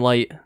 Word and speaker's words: Light: And no, it's pronounced Light, and it's it's a weird thing that they would have it be I don't know.